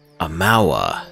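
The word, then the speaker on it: Amaua: Amawa. That's how you pronounce it.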